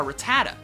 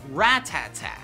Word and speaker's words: Rattata: as a kid a lot of you probably pronounce it a Rattata when in reality it's actually pronounced ratata funny right well it gets kind of funnier